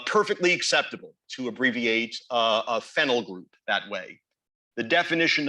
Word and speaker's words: phenyl: that's fine uh perfectly acceptable to abbreviate a phenyl group that way the definition of phenyl p